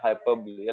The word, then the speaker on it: hyperbole: have is hyperbole okay it is called as hyperbole hyperbolic is hyperbolic okay whatever it is hyperbole getting so please make a correct pronunciation i probably is without a doubt single